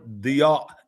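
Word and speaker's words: ضياء: The word diya is the right way to say it.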